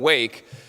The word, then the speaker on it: WWAAC: I'm not mispronouncing them, WWAAC. I call them WWAAC because they wake the AAPI community.